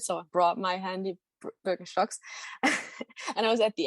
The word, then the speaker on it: Birkenstock: And then two very, very German ones, Jack Wolfskin and Birkenstock, or Birkenstock, if you want to pronounce it how it was intended.